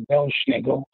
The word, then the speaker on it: Belsnickel: It's a mispronunciation of 2 German words. It's Pels Nicholas. It actually meant a furry St. Nicholas. And Pels Nicholas got sort of anglicized over the years to Pels Nicholas to Belsnickel.